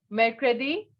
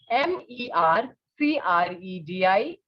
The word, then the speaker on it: mercredi: Mercredi. Mercredi.